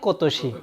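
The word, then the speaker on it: 今年: এই যে দেখেন, এটা আমরা এই কাঞ্জিটার উচ্চারণ কি শিখে আসছিলাম? ইমা। কিন্তু এখানে এটার উচ্চারণ কি? কো। এই জন্য এটা আলাদাভাবে পুরো লিখে দিছে। এটা ব্যতিক্রম, কোতোশি। কোতোশি মানে কি?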